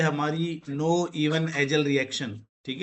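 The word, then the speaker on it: Knoevenagel: जो कि है हमारी नो इवन एजल रिएक्शन। ठीक है? तो नाम याद कर लो। इसमें के को साइलेंट करके बोलते हैं नो इवन एजल रिएक्शन है।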